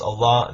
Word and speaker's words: Allah: And in Arabic it's pronounced Allah, that it means God, no different.